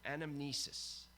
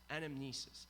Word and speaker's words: anamnesis: interesting is that the Greek word here we're pronouncing it correctly anamnesis anamnesis and it does not meet in memory of